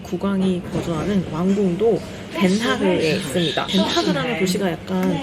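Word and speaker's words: Den Haag: 덴하그라는 도시가 약간 좀 낯설게 느껴질 수도 있는데 아마 헤이그라고 하시면은 헤이그는 들어봤어 하시는 분들이 많을 거예요. 덴하그를 영어식으로 발음한 게 헤이그예요.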